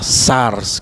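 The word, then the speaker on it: σάρξ: En griego, pues se pronuncia la palabra sars, que significa carne.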